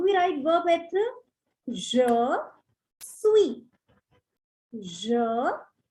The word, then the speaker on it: suis: Je suis. Je suis. You can see I've highlighted the last alphabet S with red color. Why? Because that is a silent alphabet. You don't have to pronounce it.